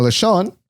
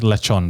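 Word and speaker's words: lechón: Now, lechon, on the other hand, that's not an everyday item. Yeah. It's pronounced lechon, by the way.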